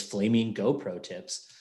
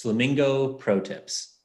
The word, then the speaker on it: Flamingo Pro Tips: we can make this flaming GoPro tips. But no, it's Flamingo Pro Tips. The got to put the emphasis on the right syllable.